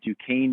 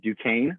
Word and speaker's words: Duquesne: is jeff attack with duquesne university if your first question tonight was going to be how do you say that school's name now you know it is duquesne not duquesne so i want to